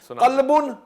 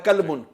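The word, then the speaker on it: قلبا: تلفظ اپنا سنا دیں۔ قلبن نقطے والا قاف ہے اور ایک ڈنڈی والا کاف ہے، قلبن، اس قلب کا مطلب ڈنڈی والے کاف کا مطلب ہے کتا، قلبن نقطے والا کاف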